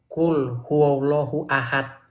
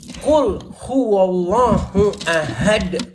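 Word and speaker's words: قُلْ هُوَ اللَّهُ أَحَدٌ: Saya bacanya gini waktu itu, "Qul huallahu ahad. Salah kata dia, bukan ya memang salah. Harus gini bacanya gini bacanya harus gini. Qul huwallahu ahad.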